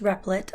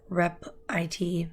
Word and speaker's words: Repl.it: this site is repl dot I T it's pronounced repli'd although some people say rep I T which sounds weird and basically what this does